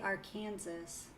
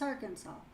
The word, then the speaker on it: Arkansas: Is that how you say it? Because I want to say Arkansas, but I feel like that's wrong. It's Arkansas.